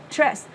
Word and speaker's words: trust: Trust, âm này là âm tra, tra, tra. Và mình sẽ là trust, trust. Không đọc là chết chết nha.